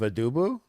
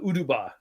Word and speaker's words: Uduba: So his whole Throne of Adubu? Throne of Uduba.